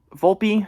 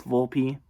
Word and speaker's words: Volpe: by daniel j vol volpe actually i i said his name wrong once it's volpe i know that's i i like volp it sounds better but you know it's